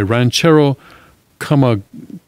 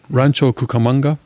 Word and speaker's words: Rancho Cucamonga: with a knife was shot multiple times by Ranchero Cucamonga, California homeowner. The press, did I pronounce that right? Rancho Cucamonga?